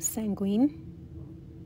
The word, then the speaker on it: sanguine: watching peace and love the powder is actually pronounced sanguine peace and love